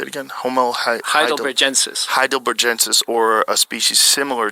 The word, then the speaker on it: Homo heidelbergensis: Homo Heidelbergensis.